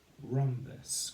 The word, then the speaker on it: rhombus: Rhombus. Good. Rhombus. Rhombus. And again, excuse me, we have the RH spelling of R in rhombus. And we say R, R, rum, b, spus, rhombus, rhombus.